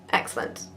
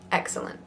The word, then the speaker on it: excellent: ready excellent excellent excellent careful you Britain's that you don't truncate it into two syllables excellent excellent it's definitely three so long II can